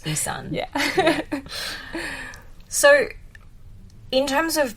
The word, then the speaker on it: Ei San: I mean, and, but then I would just be like, no, it's just Ison, just correct them, and if you correct them enough, they would get the hang of it. Yeah. I mean, 2 syllables, Isan.